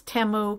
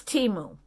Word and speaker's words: Temu: brand remember I was saying Teemu and then I said no it's TAMU because I heard somebody say TAMU on their channel it's timu because I have been watching the Teemu ads and that is how you say it let me tell you